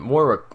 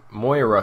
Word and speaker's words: Moira: billionaire Robert Queen and more Moira Queen sorry I said her name wrong anyways he spent his